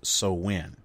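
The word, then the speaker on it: Samhain: when its I am hae in but it's pronounced so when so when which occurred on Halloween the night before All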